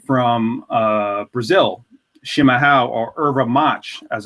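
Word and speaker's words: erva-mate: uh yurba mate from uh Brazil shimaha or irva match as it's pronounced essentially that just means traditional eura mate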